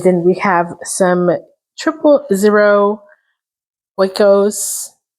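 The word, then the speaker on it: Oikos: And then we have some triple0ero wos. If I'm pronouncing that correctly, there's no N. It's O I K O S.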